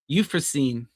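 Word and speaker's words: Euphrosyne: Euphorine. Euphorine.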